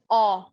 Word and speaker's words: 어: This is aw. Aw. You have to open your mouth a little bit wider. It's not o, it's aw.